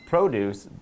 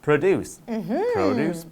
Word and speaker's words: produce: When we use it as a noun, it's produce, but the verb, which is spelled exactly the same, is produce. Produce.